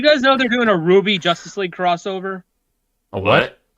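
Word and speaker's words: RWBY: Yeah, Ruby is spelled with a W instead of a U.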